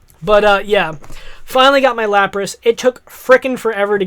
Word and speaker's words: Lapras: And yes, guys, I know that it's a Lapras.